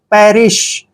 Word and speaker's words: perish: Next word देखिए, next word है PERISH, पी का उच्चारण हम प करते हैं, ई को ए की मात्रा पढ़ते हैं, आर को रे पढ़ते हैं, आई को ई की मात्रा लिखेंगे और SH को श पढ़ना है। पैरिश, पैरिश होता है मरना,